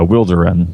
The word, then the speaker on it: Wilderun: Um, well, we we usually call it uh Wilderin. That's how that's how we pronounce it.